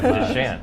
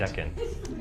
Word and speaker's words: Decant: Deshant, weren't we saying Deshant? Yeah, I was saying Deshant. Yeah. It's Decant. Decant.